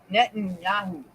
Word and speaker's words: Netanyahu: his name says next stage is coming net Netanyahu that's how you say his name Israel's war